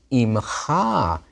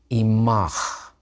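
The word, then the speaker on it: עִמָּךְ: Now, im with an ayin, means with, but with you is not imcha here, the form you would expect for second masculine singular. It's imach. Sounds like feminine singular. And in another context, that's exactly what it is. But those ha endings have a pausal form, and it's ach.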